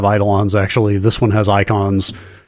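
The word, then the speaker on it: Eikon: summons in this I icons yes yeah I went into this wonder is it Akon what are we doing here but no it literally is just pronounced icon doesn't every Final Fantasy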